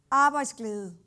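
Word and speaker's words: arbejdsglæde: happiness or work joy in Danish is pronounced a vice clue so so we're cavernous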